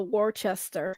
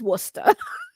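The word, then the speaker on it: Worcester: Um yes, don't don't call it don't call don't call it uh Warchester. It's not Warchester. It's Worusta again.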